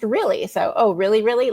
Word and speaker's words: Realy: It's really but it's one L. You know it's not two L's. It's it's one L. but it's pronounced really.